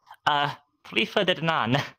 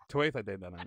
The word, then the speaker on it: Tuatha Dé Danann: I think I'll just summarize it with my pronunciation. Tuatha Dé Danann. Fuck. Okay. Say it one more time. Tuatha Dé Danann. Tuatha Dé Danann. It's very softy.